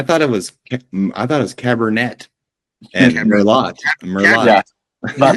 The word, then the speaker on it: Merlot: I thought it was Cabernet and Merlot. Yeah. But like David Sabat. That's why they're always laughing at me. Check out. The T is silent. It's French.